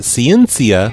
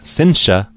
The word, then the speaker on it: Ciencia: Remember on the last show I told you that Ciencia, whose name I mispronounced, and I'm very sorry, it's actually pronounced Cincia, she went by Catherine's